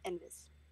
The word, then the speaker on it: Enfys: it's a Welsh, actually. Enfys. It's pronounced kind of with a V, though. Enfys.